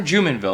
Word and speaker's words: Jumonville: price what's up guys we're back with Turner jenville am I pronouncing your last name correctly you are pronouncing